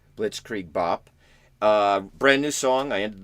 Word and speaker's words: Blitzkrieg Bop: Blitzkrieg Bop. Blitzkrieg Bop.